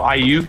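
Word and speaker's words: Aiyuk: Oh, Ayuk.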